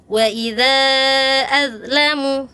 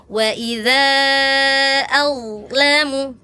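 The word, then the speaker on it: وَإِذَا أَظْلَمَ: Kalau d cuma kan dia punya sifatnya istial pangkalnya naik. Du, bad. Nah, sukun bad ya. Ketika sukun tadi kakak gini. Waidza adlamu seperti dza kurang tidak dinaikkan pangkalnya ya. Harusnya waidza adlamu ag ad ag gitu ya kak ya.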